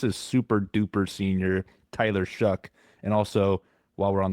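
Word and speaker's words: Shough: Saints rookie quarterback, Tyler I'm always saying it wrong. It's Shuck.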